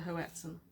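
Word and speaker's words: hoatzin: H O A T Z I N. And I think I think it's called a hatum.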